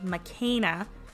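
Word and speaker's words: McKenna: Okay, so according to the American Girl YouTube channel, it's pronounced makena. So I'm going to pronounce it like that for the rest of the video. But I think that Isabelle and makena are similar, that they're both fashion designers and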